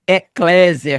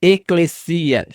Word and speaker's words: ekklesia: ou não vamos ver eclesia não é Eclésia como alguns pronunciam a pronúncia correta eclesia pois o Sigma no grego não tem o som de eclesia significa chamar para